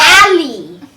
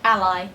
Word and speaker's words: ally: like alley. Instead of like ally, you know, because it's spelled Yeah.